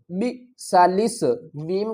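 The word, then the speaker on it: بئس الاسم: لام سین زیر لس، بئسالس، میم کو لام سے ملائیں گے، الف کو نہیں پڑھیں گے، بئسالسم الفسوق، بئسالسم الفسوق۔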